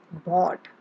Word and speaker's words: bought: word that I had here for you is bought B o ug HT it is pronounced as bought now it's time for you